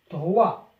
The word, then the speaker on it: droit: droit droit الأس حرف الأس لا ينطق.